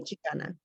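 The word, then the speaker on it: Xicana: Chicana with an X. Is it still pronounced Chicana? Yes, the X represents the indigeneity. So Okay. it's still Chicana.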